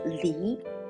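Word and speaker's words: 梨: one is peer right peer in mandarin is pronounced as li which means separate in chinese so pier equals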